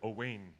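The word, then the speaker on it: Owain: his name wrong no his name is Oh Wayne Oh Wayne you say Owen well I have a funny feeling this is the Welsh spelling of oh and what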